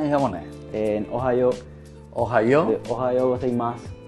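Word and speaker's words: おはようございます: Ohayo gozaimasu. Seimasu. Ohayo seimasu. Ohayo gozaimasu. O sea que dije malo ya.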